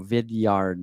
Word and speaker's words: Vidyard: anyway google google a vidyard that's next week like video vidyard like a yard i believe it's what